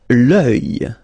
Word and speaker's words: l'œil: L'œil, l'œil, strange combination of vowels here, okay, and then you will get the sound and then y, œil, alright, and it's masculine, by the way. Un œil, l'œil, okay.